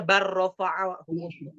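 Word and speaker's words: بل: dengan lam ro diidamkan contoh bal ro itu dibacanya bar gitu ya kecuali pada saktah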